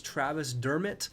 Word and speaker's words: Dermott: stand corrected it's not Travis Dermott I'm used to having Tyler Mott on the Canucks so I'm gonna say I was wrong it's Travis Dermott so here we are Travis Dermot's not Travis Thurmont there was like 17